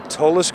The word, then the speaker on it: Tolis: I was supposed to be with Tim from the Tolis Group. Is that how you pronounce it correctly? Yeah. Tim Jones, who is the president of Tolis.